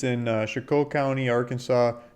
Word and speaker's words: Chicot: on it it's in Chicot County Arkansas where she could chicle Chicot heard multiple different pronounced pronunciations it's French so if I'm pretty sure the Chicot makes the most sense point for eight acres